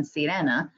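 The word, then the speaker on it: Sirena: a cruise every year on syrena it's spelled like serena and he hosts like i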